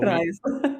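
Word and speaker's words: Preis: she received the Tractatus Prius, the German Award for Philosophy and Social Ethics. Now, I don't want to mispronounce that one, Lisa. The Tractatus Prius, is that how Prize. Prize. Okay. It's prize, basically.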